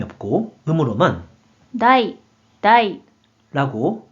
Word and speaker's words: 題: 먼저 뜻으로는 발음이 없고 음으로만 다이, 다이, 라고 발음해요.